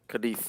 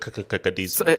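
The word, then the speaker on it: Cádiz: Wing says, why did you have to pronounce it with the fifth like that? Like, why? You could have just said Cadiz. Bro, culture, man. Okay, because you're not Spanish.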